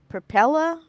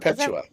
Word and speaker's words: Perpetua: So what makes I don't think I'm gonna pronounce her name right, but it's Perpella? Is that Perpetua. Perpetua? Oh, Yeah.